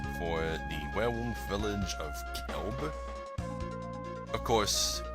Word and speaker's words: Kelb: the werewolf village of Kelb. Of course, in the newer translations, it's spelled with a Q-U. So many people call it Quelb, but it probably is still Kelb.